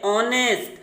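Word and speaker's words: honest: ये सभी वर्ड यानी इनमें जो यच है ये म्यूट होता है, ये साइलेंट होता है। और ये वर्ड हम किस तरह पढ़ते हैं? यहाँ से पढ़ते हैं। फिर हम देखिए ऑनेस्ट, our, honourable, air, honorary,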